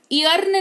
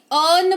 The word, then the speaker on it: earn: इयर्न नहीं अर्न पढ़ेंगे जिसका मतलब होता है कमाना।